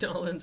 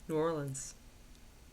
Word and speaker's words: New Orleans: Don't say Nolans ever. New Orleans. Only weird people call it Nolans.